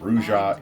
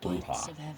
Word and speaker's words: Brujah: bruha which I ref again not brja it is bruha this is the only game I've ever seen that pronounces it bruja but whatever we are